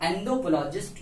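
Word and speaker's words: anthropologist: एंथ्रोपोलॉजिस्ट, इसको बहुत तो अलग नाम से प्रयोग से प्रोनाउंस करते हैं, लेकिन इसका जो राइट प्रोनाउंसिएशन है वो है एंथ्रोपोलॉजिस्ट।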